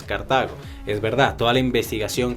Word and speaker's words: Cartago: alberto grillé que bueno que no se pronuncia a cartago como estoy diciendo perdón se me olvido sino cartago que la producción correcta es cartago es verdad toda la